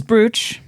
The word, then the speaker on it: brooch: Like Brooch is British is Buch. It is spelled B R O O C H in this. We say brooch cuz we're heathens.